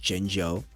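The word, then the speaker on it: Jinzhou: it in your head even though it's z h o u it's pronounced jeno ba is pronounced baaja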